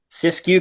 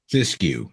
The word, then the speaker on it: Siskiyou: And is it the sysu crest? Cisco crest. That's right. Syscue. The I silent.